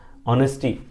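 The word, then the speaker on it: honest: जैसे हम लिखते हैं ऑनेस्ट, है ना, ऑनेस्टी, तो ऑनेस्ट जब यूज करते हैं तो यहाँ एच साइलेंट होता है, पढ़ते हम ऑनेस्ट है, ओ पढ़ते हैं, तब भी यहाँ पर आपको एन ही लगाना है, एन ऑनेस्ट, ठीक है।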